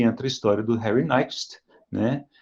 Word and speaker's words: Nyquist: Dizem que o Nyquist, de fato, pronuncia Nyquist, né?